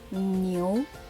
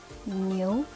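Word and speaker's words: 牛: write that down and the pronunciation is new new that means ox nil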